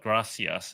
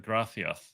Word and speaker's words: gracias: isn't it gratif the the spanish pronounce it with that unusual it's not gracias it's like grathioth yeah i agree with